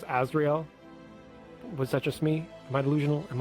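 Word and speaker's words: Asriel: It's AS. But which one's AS? Azrael. Like Undertale for lack of better description on how to spell it out. As S R I E L.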